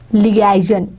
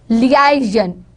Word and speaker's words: liaison: Liaison, liaison. They are going to put stress on the second syllable, liaison, renaissance, renaissance.